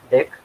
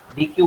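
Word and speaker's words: deque: pronunciation as deck, DEQQE, which is pronunciation as deck, and जैसे DECK होता है ना, वही प्रोनाउंसिएशन इसका भी है. एक्चुअली हम अगर अगर चाहे तो DQ बोल सकते हैं इसको, अगर बोलना है तो आपको, but इसका pronunciation deck होता है.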